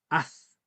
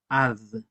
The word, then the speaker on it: ad: En el sur la pronunciarían de otra forma, la pronunciarían como una Z, dirían az, pero en la variante picunche, que conserva la fonología antigua de la lengua mapuche, la palabra es ad.